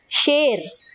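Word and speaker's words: शेर: ஷேர் ஷேர், SH சவுண்ட்ல சொல்லணும், சேர் கிடையாது, ஷேர்.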